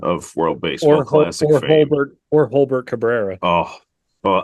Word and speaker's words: Jolbert: Holbert Cabrera. Oh, well, I prefer to pronounce it Jolbert, but you know, it sounds like a Dilbert character.